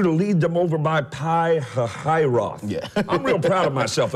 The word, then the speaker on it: Pi-Hahiroth: I want you to lead them over by Pi-Hahiroth. I'm real proud of myself. I learned how to say it. Pi-Hahiroth and Migdol, over by Baal-Zephon.